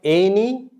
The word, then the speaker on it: any: You see the letter A, it's not any, it's any. Any. Any. Any. Many. Many. It's not any, it's any. N-E. Like as though you can write E-N-Y.